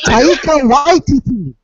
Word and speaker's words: Taika Waititi: I may be mispronouncing this name because it's a tad strange to me, but Taika Waititi, or wait, Take out my titty. what? What? It's Taika Waititi.